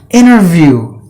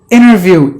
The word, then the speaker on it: interview: is silent and then the word interview interview interview even there is another word called the inner view we talk about sometimes both the words are pronounced exactly the same way but different meanings and